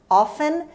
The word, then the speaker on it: often: Often ممکنه often هم بشنوید، هر دو تا تلفظ درست است. Often or often.